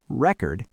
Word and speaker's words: record: If you stress the first syllable, record, it's a noun.